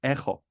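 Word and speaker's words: echo: En cuanto a H, por ejemplo, podemos decir eco, pero para nosotros sería ejo, ejo, ejo.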